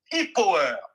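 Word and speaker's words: Ipuwer: Hippoer, ça s'écrit I-P-U-W-E-R.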